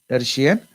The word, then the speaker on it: tertian: That's why the infection caused by Plasmodium vivax and infection caused by Plasmodium ohel is called as tertine fever, or someone pronounce it as tertian fever. It is tertian fever.